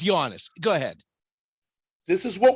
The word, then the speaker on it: Giannis: If he's in the top 10, say his name right. It's Giannis. It's not Giannis. It's Giannis.